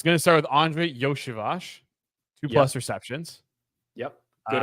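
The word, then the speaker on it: Iosivas: figure out so it's gonna start with Andre yosibash two plus receptions yep good on the pronunciation there as well that was correct right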